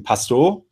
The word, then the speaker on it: Pastoor: today I have a very special guest pastor how you doing got pronounced your name right yeah that's fine that's